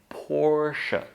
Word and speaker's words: Porsche: There is no e sound at the end, even though we write it. It's just an schwa, the caveman sound again, sh.